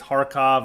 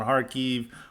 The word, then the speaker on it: Kharkiv: which for whatever reason the Slavic countries don't pronounce the K. Like it's Kharkov and Kharkiv, rather than, pronouncing the K.